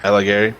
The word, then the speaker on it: Alighieri: Yeah, Alighieri.